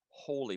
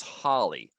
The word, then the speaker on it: holy: A saint is a holy person. Now, some students pronounce this holly.